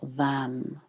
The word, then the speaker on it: Vam: And into this we can drop the syllable Vam, V-A-M, Vam.